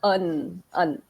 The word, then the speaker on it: won: One. So here you need to pronounce it as un.